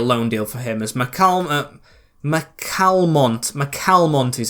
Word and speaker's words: McCalmont: As McCalmont is how it's said.